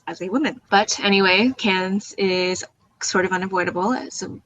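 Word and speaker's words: Cannes: let's move on to cans I don't even know if I'm pronouncing that right but is there a way to go about this like it's just can but the S Sil you don't say it maliciously enough can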